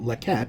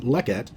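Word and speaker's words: לֶכֶת: accented syllable of leke not lecat but lekket Hebrew really wants a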